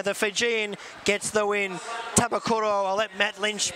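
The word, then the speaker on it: Banuve Tabakaucoro: Tabakuro, I'll let Matt Lynch pronounce the winner. Banuve Tabakathoro.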